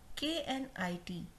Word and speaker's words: knit: In last three words, letter K, the sound of K is silent. That means we are not going to pronounce K. Okay? So this K is silent in these three words.